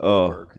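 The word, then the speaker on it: Åberg: I believe with the umlaut above it, it's pronounced as Oberg.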